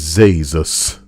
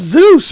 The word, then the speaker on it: Zeus: god i chose to do my project on zeus however i was nervous and for some reason i referred to him as zazus jesus with a z the presentation was like